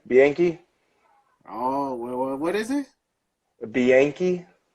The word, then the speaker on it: Bianchi: my middle name, Bianchi.